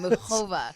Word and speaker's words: Muchova: I gotta get that second syllable down. Muchova. It's like challah bread, right?